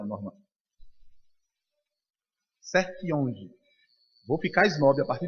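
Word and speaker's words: Sertillanges: Anthony Dominic Sertiange, né? Sertiange, né? Aprendi o nome correto, nunca mais eu falo errado. É bom falar com quem... Ele é francês? É, né? Qual é a pronúncia, Norma? Sertiange.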